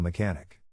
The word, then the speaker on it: mechanic: In this case, the accent is in the second syllable, corresponding to con.